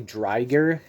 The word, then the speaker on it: Driger: Driger's name, interestingly, was changed to be pronounced different in the US. Its name is technically Dger, but I think most people just say Driger.